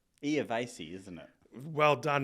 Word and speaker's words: Iervasi: And it's Iervasi, isn't it? Well done. Not many people can pronounce it, so that's a good job on your behalf.